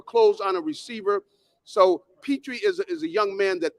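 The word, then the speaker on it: Pitre: on a receiver so petrie is a young man that uh you know you definitely what is it p-i-t-r-i p-tree you know that's the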